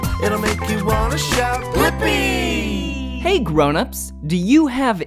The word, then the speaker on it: Blippi: Yeah, it's Blippi. Let's spell it together. Ready? B-L-I-P-P-I.